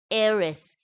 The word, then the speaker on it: heiress: And the last example is an heiress. Here again H is silent.